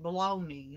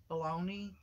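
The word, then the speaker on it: Bologna: it it I remember it sound like it was spelled like baloney like baloney B l o b o l o g n a and I don't even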